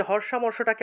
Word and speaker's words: হর্ষামর্ষ: এই যে হর্ষামর্ষটাকে আমরা হর্ষ মর্ষ এইভাবে উচ্চারণ করব।